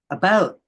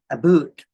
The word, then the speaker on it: about: French not American and I pronounce it about not AB boot I can proudly SE